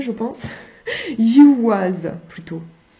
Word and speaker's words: Ehwaz: Ehwaz, plutôt. Voilà, le son ye de yaourt et de yeux. Ouais, le ye, oui, d'accord, ok. Et le son w de waou waterclust.